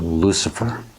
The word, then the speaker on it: Lucifer: And last, we have Lucifer, or Lucifer, if you want to pronounce it in English.